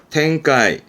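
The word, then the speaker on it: 展開: 발음은 카이호, 카이호. 전자입니다. 뭔가 전개되는 상황이네요. 텐카이, 텐카이.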